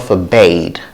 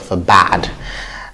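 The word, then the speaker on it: forbade: word is for bad for bad for bad not for bait but for bad and the next is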